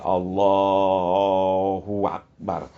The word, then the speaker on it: Allahu Akbar: hingga terbaca seperti Akbar jangan lagi dibaca panjang bnya soah ada Alif antara ba dan Ro Jadi Allahu akbar jangan e Karena sebab kalau dibaca Akbar itu kata ulama itu maknanya jadi lain maknanya jadi lain Allah